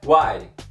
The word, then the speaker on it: why: solta os Peixinhos a pronúncia dessa palavra é uai uai não pronuncie Way aqui guns guns pronunciou nessa palavra como se